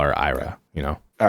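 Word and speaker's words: Aira: the pink haired girl Ida Ida yeah like like it's like a it's it's a it's a it's like it's not a rolling R but it's an r that yeah yeah just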